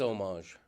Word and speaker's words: homage: It is homage. He pronounced it differently, but maybe it's the beret.